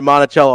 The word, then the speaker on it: Monticello: I mean, listen, they might say it wrong in Iowa, but it's pronounced Monticello.